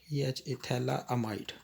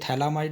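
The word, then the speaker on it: phthalamide: यहां आता था और इसको हम बोलते थे थैला माइट थैला थैला एमाइड ध्यान रखना आई और ए का फर्क है सिर्फ ये थैला माइड है ये थैली माइड है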